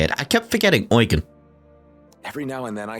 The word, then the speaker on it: Eugen: Dear Eugen, I can't thank you enough for everything you've done. Oh, that's how you say it. I kept forgetting Eugen.